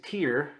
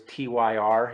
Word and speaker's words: Tyr: The next one is Tear from 1990. Um, as I've been told, it rhymes with beer. Okay, because I had no clue how to say it. I always used to think it was TYR.